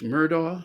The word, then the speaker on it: Murdaugh: which is Alex well it's murder I guess you pronounce it I've only heard it pronounced every night on the news um is was convicted